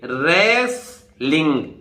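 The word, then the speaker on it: wrestling: तो देखिए रेसलिंग, यहां टी साइलेंट है, रेसलिंग।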